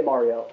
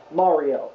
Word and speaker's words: Mario: No, everyone, that's how Italians say Mario. Really? No, but canonically, it's Samus and Mario, because the characters have had dialogue in the game.